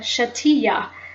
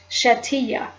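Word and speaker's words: Shetiyah: in Judaism or Hebrew they call it the shatia which is spelled s h e t i y a h shatia so if you type in shatia or you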